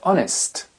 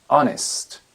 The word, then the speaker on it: honest: par exemple our our le le H est absolument muet le mot Honor hon ou bien l'adjectif honest honest le nom un héritier